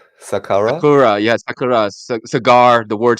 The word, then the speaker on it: Sakura: Just the way you pronounce it almost makes made it sound like sakura.